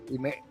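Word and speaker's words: Imee: Marcos yun ang full name niya o Ang pronounciation talaga ng pangalan nian ng nickname niya hindi im Ime Oo o Ime yan Oo so wala talaga ' ba par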